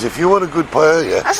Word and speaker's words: paella: Paella. How do you pronounce that?